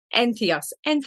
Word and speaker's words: Entheos: as a Celebrant with Entheos Ireland. Did I pronounce that correctly? Entheos Yes. Ireland. So it's you have enthusiasm. Very good.